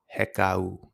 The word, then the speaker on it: Hekau: And today, as you seen from the title, we're going to be talking about heeka. That word is pronounced heeka. H e k au.